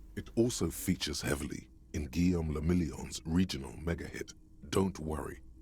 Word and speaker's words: Guillaume le Million: Guillaume le Million. Oh, too late. If it doesn't rhyme, you're not pronouncing it right.